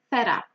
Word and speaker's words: fed up: Here, the stress is on the first word, fed up. And you usually link the words, you pronounce them as one, fed up with.